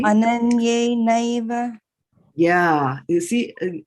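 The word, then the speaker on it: अनन्येनैव: Ananyenaiva. Yeah, you see, all the time you were pronouncing this as ananne. This is not ne, this is why.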